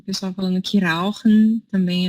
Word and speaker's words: rauchen: Rauchen, mas se você não conseguir falar o R, rauchen.